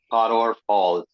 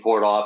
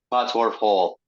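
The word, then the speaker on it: Pottorff Hall: Pottorf Hall. Yeah. It took me a little while to get that pronunciation straight. I kept saying port off and stuff like that, but it's Pottorf Hall.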